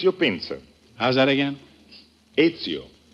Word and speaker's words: Ezio: uh pinsa is is that the way you pronounce it that is right it's your pincer how's that again ezio e z i o ezio pincer p as in peter i n